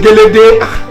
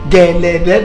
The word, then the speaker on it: Gẹ̀lẹ̀dẹ́: Kì í ṣe Gélédé. Èwo ni Gélédé? Gẹ̀lẹ̀dẹ́ dance troupe. Gẹ̀lẹ̀dẹ́. Can you please allow me to pronounce this name myself? It's Gẹ̀lẹ̀dẹ́. Kì í ṣe Gélédé. It's all right.